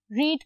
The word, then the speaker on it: read: रीड का third form क्या है, रेड। सिर्फ प्रोनाउंसिएशन चेंज होती है और कुछ चेंज नहीं होता। बाय यू आना चाहिए था, नहीं लगाना, ठीक है।